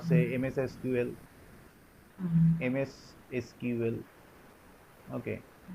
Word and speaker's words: SQL: MS SQL. Okay. Acha, SQL somebody may call it as CQL. Okay. Sequence. So Okay. some person pronounce it as CQL. So Okay, both pronunciation. pronunciation, they are, both are same.